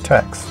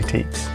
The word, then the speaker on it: TEKS: curriculum for public schools some folks pronounce these texts well some say teats either is fine yes ease or student